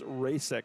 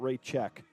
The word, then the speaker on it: Rasek: But thank you for the pronunciation for Mr. Rasek is Rasek, not Raycheck.